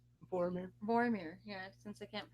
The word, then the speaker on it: Vormir: You know, Black Widow, and well, like wow, once it was her and Hawkeye going to Valmir, if I said that right. Boromir. Vormir, yeah, since I can't pronounce stuff.